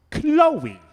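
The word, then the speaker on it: Khloe: hope so too jax how do you pronounce k h l o e chloe but why have the accent argue if you don't pronounce it correctly what's the point it makes it seem greek but also sort of french i knew it i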